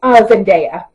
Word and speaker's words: Zendaya: I'm sorry, I don't know why I pronounced her name wrong. Zendaya.